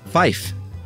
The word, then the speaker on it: five: know for and uh five is fife to keep the word fire distinct in some dialects huh all right this